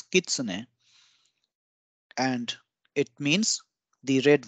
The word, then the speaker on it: Kitsune: denote tree or wood it is a single syllable word and then we have kitsane again it's not Kitsune it's Kitsune and it means the red wolf which is